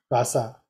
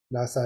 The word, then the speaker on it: Lhasa: example, this is the how to pronounce this one? Lhasa. Lhasa. Yeah. Yeah. Lhasa is the capital city of Tibet.